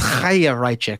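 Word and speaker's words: Chaya Raichik: She it's a Jewish name. It's Chayrachik.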